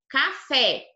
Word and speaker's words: café: Então, ó, café, não é? Café. O K é atrás, não é? Café. Então, a sílaba verdinha aqui é a mais forte, é a última sílaba da palavrinha, ó. A última, café. Por isso que ela é oxítona.